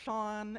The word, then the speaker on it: Sian: Yes, that is pronounced Shaun. S I A N. It's a Gaelic spelling if you all didn't know.